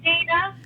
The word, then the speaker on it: Deana: Is it Deana or Deanna? Deana. Oh, we've been saying Deanna the whole time. Deana, I apologize to you. It's okay. I've been saying Deanna, and it's Deana.